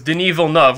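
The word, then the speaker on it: Villeneuve: what probably happened was deneva love which is I believe how you pronounce the director's name he says Canadian guy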